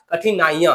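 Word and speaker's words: कठिनाइयाँ: कठिनाई का कठिनाइया तो अब यहां पे उच्चारण को समझिए उच्चारण कठिनाइया तो इया हो जाएगा य कंस हो जाएगा ये वाला है ना यहां कौन सा हो आगा देखिए क्या कह रहा है कठिनाइयां कठिनाइया तो ई दीर्घ ही लग रहा है य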